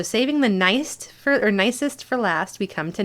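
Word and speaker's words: gneiss: all right so saving the nice fur or nicest for last we come to nice yep that's how you pronounce it and it has a really nicely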